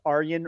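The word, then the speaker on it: Arjen: to say is diplomatic immunity his name was aryan a-r-j-e-n but pronounced aryan rudd he was an older kind of you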